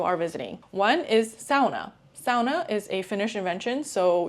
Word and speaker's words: sauna: Sauna is a Finnish invention, so you'll be able to find saunas everywhere, and be sure you say sauna and not sauna because that's how you pronounce it in Finland.